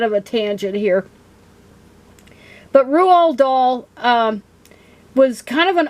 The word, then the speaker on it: Roald Dahl: come across about rule yeah it's pronounced rule doll and his books because